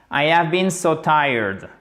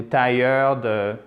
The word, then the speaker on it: tired: vous le voulez bien tired tired hein pas ti ou tied non tired tired ok been so tired